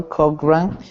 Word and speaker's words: Cochran: carl quadrant rank yeah the ch in this uh word this name is like like saying a k ren okay carol cochran director of human resources